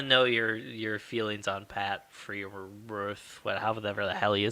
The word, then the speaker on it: Freiermuth: I want to know your feelings on Pat Freiermuth. However the hell you say his name. Oh, Freiermuth?